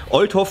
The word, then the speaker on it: Oldhoff: So Leute, ich bin angekommen bei Step 2 und zwar bei dem Lars Oldhoff, Oldhoff Freight Solution GmbH, so heißt es richtig ausgesprochen.